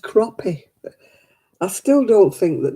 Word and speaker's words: crappie: they wouldn't be living oh it's pronounced crappie i still don't think